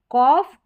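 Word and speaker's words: cough: ऑफ ऑफ करके इसका उच्चारण। कॉफ और यहां पर है ट्रॉफ।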